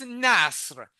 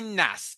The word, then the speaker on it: Nasr: So I correct everyone who say that my name is Nasser. If it is hard to pronounce just imagine that Skip the the R and just say NAS.